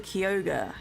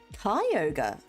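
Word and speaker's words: Kyogre: sorry arus sounds cooler you're mispronouncing kiyoga how did how do you pronounce am I pronouncing it right I'm not actually sure if that's if that if it's kiyoga I think it's Koga kyoga oh okay there apparently I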